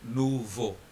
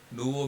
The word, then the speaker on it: nouveau: EAU is pronounced as O, so nouveau.